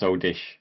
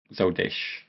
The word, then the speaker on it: Zoldyck: Yeah, but it's actually pronounced Zoldish. It's Uh-huh. so you like over compensate at the end.